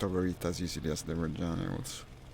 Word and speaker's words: Reggiane: It's got two G's, by the way. It's Reggiane. Actually, it makes a lot of difference in Italian pronunciation. Now, I also say Reggiane when speaking English, because it makes you do that. But it should be pronounced Reggiane with double G. It's a very Italian thing, I think. The double consonant.